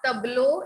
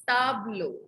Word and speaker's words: tableau: Not tableau, it's tableau. Un tableau.